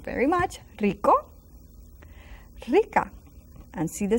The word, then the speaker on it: rico: Now the R's also beginning of this word are a little bit stronger than the R that you find in between letters. So rico, rica. Some people say even pronounce it rather strong.